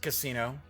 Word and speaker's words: Cassino: I was going to say for a second, I was like, no, yeah, it is pronounced Cassino.